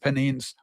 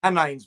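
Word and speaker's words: Pennines: And Newcastle, everything from the bustling city life of Newcastle to peaceful North Panines. So, uh isn't that lovely? Penines, by the way, pronunciation penines.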